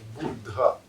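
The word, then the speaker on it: बुद्ध: Ну что ж, слово «Будда» на санскрите пишется с удвоением «д», «буддха», «буддха».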